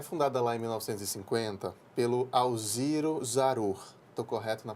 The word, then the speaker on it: Alziro Zarur: Deus né é fundada lá em 1950 pelo Alziro Zarur tô correto na pronúncia tá correto isso foi quem foi o